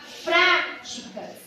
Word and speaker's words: práticas: na terceira temos práticas quando você fala práticas o pra é a sílaba mais forte então a última penúltima